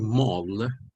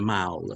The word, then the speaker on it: The Mall: own christmas and yam purposes okay the word mal is an americanization of a british term the term in the united kingdom is actually the mal they pronounce it the mal m-a-l-l the mao